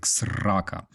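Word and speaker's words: срака: Yeah, you gotta say it like Ukrainians, like sraka.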